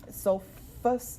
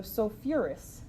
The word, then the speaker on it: sulfurous: quick and simple um sulfus acid sounds weird remember we add that extra syllable to make it sound a little bit better so sulfurous acid is its name